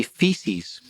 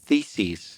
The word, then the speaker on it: theses: that one well you don't want to say feces you want to say Theses yeah feces is isn't